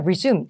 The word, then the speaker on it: resume: 그 다음에 나머지 오답이었던 A번은 resume라고 읽으면 이력서지만 resume, 재개하다라는 동사고 그 다음에 C번이 hold는 원래 listening이나 회화 때는 이 잡다로 많이 나오잖아요.